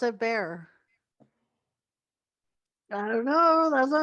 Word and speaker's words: Bexar: Well, where I live is Bear. Well, it's spelled Bexar. So how would you say that? No, Baxer. Bexar. Bexar. But people pronounce it bear.